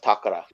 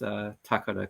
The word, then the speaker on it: Takara: But yeah, my Japanese isn't fantastic, but I can at least pronounce Takara correctly. So see, in 2004, I always pronounce it as Takara as well. For those of us who don't know what we're talking about, Hasbro's equivalent overseas is Takara, or Takara, as Phil pronounces it properly.